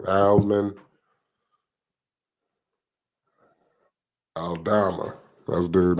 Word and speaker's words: Aldama: Alman Aldama.